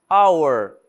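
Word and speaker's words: hour: dade honestidade honesty honestidade our our ora repare que eu não tô pronunciando o h our Honor Honor também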